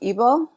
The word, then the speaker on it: Igbo: Yeah, so it's pronounced Igbo.